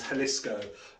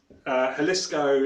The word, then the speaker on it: Jalisco: And at its centre is Jalisco, spelled with a J. So Jalisco is basically the heart of the tequila production.